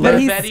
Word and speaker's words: Bette: man Penny Midler but her name really is Betty because she's named her mom loved Betty Davis and she was named and it's spelled like Betty Davis everybody just called her